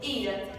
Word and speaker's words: ira: E também o exemplo ira. Ira também é uma pronúncia fechada por não possuir nenhum acento.